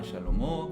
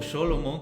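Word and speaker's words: Shlomo: es el nombre correcto, a Salomón le llaman Shalomó, que es el nombre correcto, o Sholomo, que también es una variación del nombre correcto.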